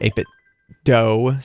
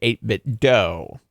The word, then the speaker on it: 8BitDo: eight bit doe he he emailed them and they said it's pronounced do like scooby doo also they have a